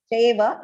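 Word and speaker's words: चैव: Please do not pronounce it as Chaiva. It is Chai, Ch with a long I vowel sound. Chaiva. And do not stretch that word. So chaiva. No, that is very incorrect. Va is a small pronunciation. You have to immediately stop it pronouncing va. Okay, do not stretch the va.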